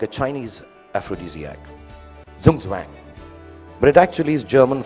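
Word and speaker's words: Zugzwang: what they call i don't know how to pronounce it but sounds very cool the zooms wang yeah it's a really cool word it sounds like a chinese aphrodisiac zoom zwang but it actually is german for okay i'll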